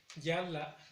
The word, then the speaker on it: yala: En el caso de ayer sería yala, igual en la primera sílaba.